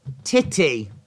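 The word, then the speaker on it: Tite: uh beelza for um Brazilian manager it's pronounced titty oh well he's got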